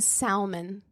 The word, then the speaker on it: salmon: fries no no yeah he pronounced the L in Salmon that reminds me of